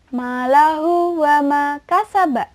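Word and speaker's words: مَالُهُ وَمَا كَسَبَ: Dibacanya malahu wa ma kasab. Malahu wa ma kasab. Satu lagi. Malahu wa ma kasab. Itu panjangnya 2 ya, nggak boleh terlalu pendek dan juga nggak boleh terlalu panjang.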